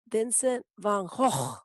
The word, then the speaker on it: Vincent van Gogh: the correct pronunciation is vincent van gaal but i feel like i'm clearing my throat every time i say that so i'm going to just go with vincent van gogh i'm going to give